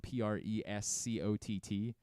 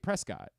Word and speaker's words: Prescott: Andrew Stecker reminded me there's a town in Arizona that's spelled Prescott. And when you move there, you're like, oh, right, Prescott. They're like, nope. Prescott.